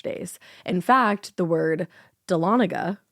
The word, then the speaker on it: Dahlonega: The story takes place in a town called, thank you so much for the pronunciation because that's intimidating. That is intimidating. Dahlonega? Yep. Dahlonega, Dahlonega.